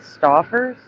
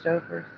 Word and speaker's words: Stouffer's: People pronounce it Stoffers. Hellcat, you remember? You've heard people pronounce it Stoffers. I've only heard Stouffer's.